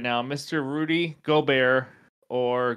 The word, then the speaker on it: Gobert: who's in my doghouse right now Mr Rudy goar or gobert if you don't want to pronounce it the right way um he's averaging